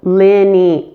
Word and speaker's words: linear: Now the I and the E in this word are said differently. The I in lin is a short, relaxed I. Lin. Notice how relaxed my mouth is? There is no tension, there is no muscle movement here. Lin. Say it with me. Lin. Now the E is just the opposite. There is a lot of tension with the E. E. So linear. So lin, relax, E, tense.